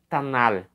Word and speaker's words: Tanakh: Ruth pertence à terceira divisão da seção da Tanakh, tá? Que no caso aqui, a pronúncia seria Tanar, né? Tanar, a Bíblia hebraica.